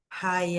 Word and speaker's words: high: Esse high que é de alto, né? A gente não fala então o som do G com H. High. Fica como se fosse o comprimento em inglês, né? High.